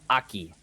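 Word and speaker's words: 秋: Uh that kanji is pronounced aki.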